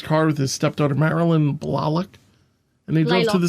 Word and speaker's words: Blalock: pronounced it Marilyn Blalock on the segment, so I went with that. So, okay.